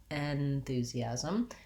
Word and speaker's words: enthusiasm: other syllables first because this first syllable in the letters e n is unstressed at the beginning we don't really say it with the red tent vowel enthusiasm or enthusiastic i can use the and it won't sound incorrect but it's short and